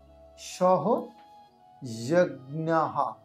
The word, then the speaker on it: সহযজ্ঞাঃ: চলুন শুরু করা যাক সহ যজ্ঞাহা এখানে বিসর্গ থাকলে হ এর উচ্চারণ হবে আর সেই জন্য এখানে সহযহা